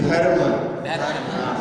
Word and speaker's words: घर्म: प्ररूपयति किंकिल घर्म रश्मिः, धर्म नहीं घर्म, घा नहीं है, घा, घाम होता है ना, घाम, उसी बात को बता रहे हैं।